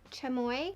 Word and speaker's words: chamoy: you told me that you pronounce it chamoy i'm so sorry from